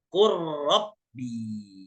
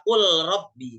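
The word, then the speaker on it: قلبي: makhraj tapi sifatnya berbeda qulbi qulbi dibacanya qubi jangan lagi Dibaca qulbi tapi rnya langsung bertasdid qubi nah ini dia bacaan-bacaan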